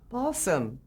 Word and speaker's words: Balsam: Balsam, like the fir tree, B-A-L-S.